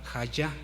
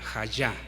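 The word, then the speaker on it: היה: Bien, esta palabra, hermanos, es clave porque del hebreo es la palabra hayá, J-Y, hayá, acento en la.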